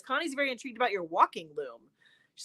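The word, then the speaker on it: waulking: for to move to walk what is it spell it again please w a u l k i n g walking oh yeah see okay folks we are learning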